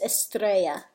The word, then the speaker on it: Estrella: music from o-ue had got her last name wrong it's Estrella which is a Spanish four star miss angel right started